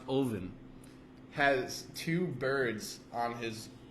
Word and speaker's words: Odin: why because the god Odin which is actually pronounced oen has two birds on his shoulders that represent